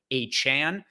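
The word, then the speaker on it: Achane: found out that he wants his name to pronounce a Chan and then yeah I mean Tyreek Hill had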